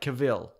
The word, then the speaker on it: Cavill: your name is pronounced it's like travel cattle yeah like Cavill oh yeah like yeah